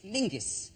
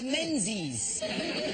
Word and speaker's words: Menzies: Yeah, Yeah, but it's pronounced, it's spelled M-E-N-Z-I-S. Yes. Well, why are you looking at me like I'm insane? That's Menzies. Menzies. Yeah. John Menzies. Menzies. People don't go, let's go to John Mingus.